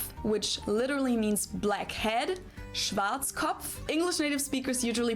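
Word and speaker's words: Schwarzkopf: Schwartzkov. English native speakers usually pronounce it Schwarzoff or Schwartz cough or something along those lines.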